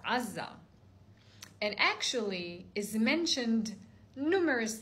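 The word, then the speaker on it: עזה: So in Hebrew, the word Gaza, pronounced Azza, and actually is mentioned numerous times in the Bible.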